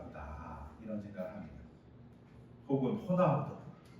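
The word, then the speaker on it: Ronaldo: 혹은 호나우드 R을 히읗으로 발음하는 이름을 들으면 스페인권 사람인가 보다 뭐 이런 추측하잖아요.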